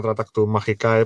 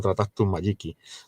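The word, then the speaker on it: Tractatus Magicae: Sí, bueno, o sea, la gente le llama Tratactus Magicae porque es más fácil, ¿no? En realidad se pronunciaría algo así como Tratactus Magiki, ¿sabes?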